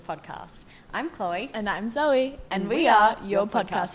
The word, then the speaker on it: Zoë: My fun fact is that my name on the E, there's 2 dots on it. They're called umlaut, and it makes you pronounce the E sound. So instead of being like Zoe, my name's Zoe.